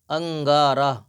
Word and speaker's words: انگارہ: زبر کھا، انگر کھا۔ انگارہ، الف نون گاف زبر انگ، گاف الف زبر گا، رے ہے زبر راہ، انگارہ۔ نون اور الف کو الگ نہیں پڑھیں گے، تینوں حرفوں کو ملا کر ہجے پڑھیں